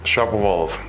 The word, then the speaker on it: Shapovalov: How do you pronounce it? Shapovalov.